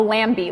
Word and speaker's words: Lanby: Mostly people call it the Lanby, like a lamb.